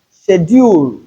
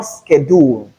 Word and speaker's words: schedule: not be but verse verse mischievers and we also have schedule and not schedule as long as British English is concerned as long as British English is concerned.